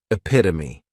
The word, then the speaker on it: epitome: catch 22 next is epitomy and this noun has four syllables and the stress is on that second syllable epitome this is a word